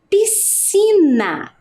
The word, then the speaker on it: piscina: Com SC, quer dizer que preciso colocar o S, o C, e quando eu faço a pronúncia, né, pronuncio essa palavra, ela tem apenas um único som, né?